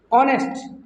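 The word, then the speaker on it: honest: ऑनेस्ट। इसको ऑनेस्ट पढ़ते हैं क्योंकि यहाँ जो एच जो है वो क्या है? साइलेंट रहता है। इसका जो एच है वो साइलेंट है, इसलिए इसकी ध्वनि नहीं आएगी।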